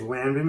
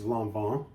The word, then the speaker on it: Lanvin: Most people will say it's Lanvin because it's just an easier way of saying it, but the actual pronunciation is Lanvin.